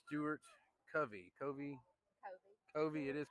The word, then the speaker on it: Covey: Covey. It is Covey.